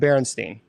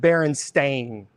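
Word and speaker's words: Berenstain: Unfortunately, it's not called Baronstein. There's no such thing. They spell it Baron Stain, not Baronstein. Yep. It was No, it's It was not It was not Baronstein. It was Baron Stain.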